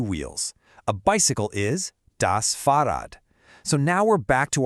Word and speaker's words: Fahrrad: A bicycle is das Fahrrad. So now we're back to our neuter article, das. The pronunciation can be a little tricky.